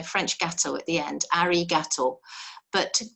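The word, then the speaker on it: ありがとう: to say thanks it's arigato arigato i always think it sounds like a gator you know french gato at the end arigato but to say it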